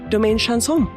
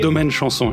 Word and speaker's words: Domaine Chanson: And Vincent, welcome and tell us about Domaine Chanson. First of all, I would like to say excellent pronunciation. Oh, thank you. Domaine Chanson, indeed.